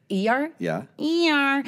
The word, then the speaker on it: Iyar: Iyar.